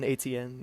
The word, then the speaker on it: Etienne: Etienne, yeah. Yeah, I had no idea how to pronounce it, but I learned it's Etienne, and he played really well.